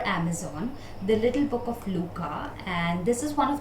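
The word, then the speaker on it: Lykke: little book of luca please don't go the way it is written the pronunciation is luca so out of the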